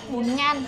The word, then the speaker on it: bún ngan: Bún ngan. It's called bún ngan. Bunyan, not Bunyan.